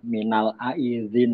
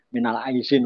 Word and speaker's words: minal aidin: Yang betul kan minal aidin pakai di aidin. Aidul ya bukan aidul minal aidin bukan aidin. Wal faizin pakai Z. Faizun ulik humul faizun pakai Z itu ya. Ini biasanya kalau orang halal bihalal itu di ee tulisannya pada keliru semua di Z minal aidin wal faizin. Minal aizin wal faizin itu keliru. Minal aidin wal faizin.